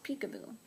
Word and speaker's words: Picabo: It's pronounced like the name of a game you play with babies, Picabo.